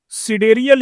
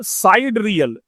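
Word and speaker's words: sidereal: सिडेरियल या साइड रियल दोनों pronunciation कर सकते हैं।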